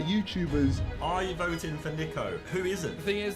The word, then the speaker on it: Niko: It's Niko, not Niko.